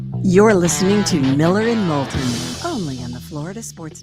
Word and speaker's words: Moulton: You know, I tell everybody, how do you pronounce it like molten lava. Oh, okay. Don't spell it that way though. What's the worst pronunciation of your last name that you've ever gotten? Moulton.